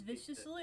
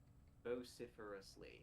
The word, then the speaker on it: vociferously: I thought it was viciously at first glance. It's like, wait, no, there's more letters than there should me be. too. It's even longer than I imagined. Vociferously. That's how you say it.